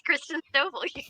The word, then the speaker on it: Christen Stovall: I know I pronounced that right. Hey, Christen. You said it right. It's Christen Stovall.